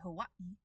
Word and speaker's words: Hawaii: Um and we do hear this in English uh rarely but it is there. um most notably in the word uh oh um and if excuse me um and if you say Hawaii uh correctly uh it is there as well.